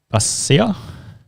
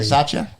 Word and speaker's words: Bisaccia: But anyway, Rich Basia? Biasia? Starts with a B. Bisaccia. Bisaccia? There you go. There's a B there. Yeah. Pronounce it B. Sorry, also Silent back B. on the Raiders. It's a silent B.